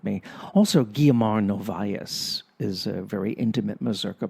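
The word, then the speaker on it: Guiomar Novaes: Also, Guillermo Novaes is a very intimate Mazurka player in that sense. See, I pronounced her name correctly because I used to speak Portuguese, even though I completely forgot how to speak Portuguese.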